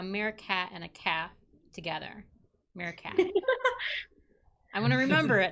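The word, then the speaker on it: Mirfak: a bastardization of it so it's like mere cat but cat with an f with an f so it's like a meerkat and a calf together meerkat i'm going to remember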